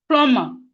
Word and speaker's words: plumber: Plumber. Plumber is not plumber. It's not plumber. Let's stop saying plumber. It's not plumber. The B here is silent. The B is silent.